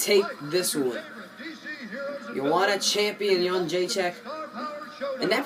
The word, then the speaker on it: Jedrzejczyk: Joanna champion Jedrzejczyk. And that pronunciation, that's how you know I'm a fan, because it's A1.